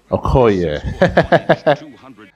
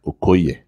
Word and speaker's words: Okoye: central africa named christian okay i mean like that pronunciation like with the phoneme with the phonetics okay wow let me let me give you the nigerian one christian okoye yeah that's the name uh um central